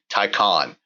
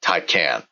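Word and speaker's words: Taycan: confirmation from uh somebody at Porsche the correct pronunciation will be tyon as in as if it as if it was spelled t a y o n uh not tyan uh so this is uh built on the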